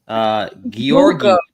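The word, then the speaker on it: Georgy: Yeah, General Georgi.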